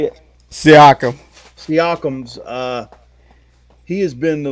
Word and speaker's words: Siakam: And what's you look at Indiana, and it seems like it's been Sycam. Sycam, that's how you say it. Siakam.